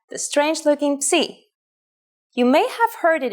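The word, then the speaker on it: ψι: If you ever forget how to pronounce this letter, just remember, Psi is for Poseidon and his trident. It is handwritten like this. Psi.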